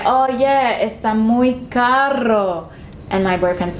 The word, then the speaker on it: caro: but if you say caro, means expensive. The only difference is that one has double R, one has one R, but they mean different things. So you have to pronounce it correctly.